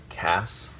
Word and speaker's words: Cas: think it's critical that the name still be pronounced Cass and not Cass I I want to I